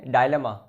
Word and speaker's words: dilemma: Noun and pronunciation है डायलेमा, meaning देखते हैं.